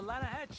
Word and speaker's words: Lanahatchee: You mean the Lanahatchee River? No. The Lanahatchee. It runs right near here. Yeah, but it's pronounced Lanahatchee. Why is everything in English said differently than it's written?